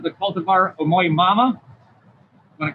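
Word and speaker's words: Omoi-no-mama: She says the cultivar Omoi Nomama, want to correct my pronunciation? Omoi Nomama.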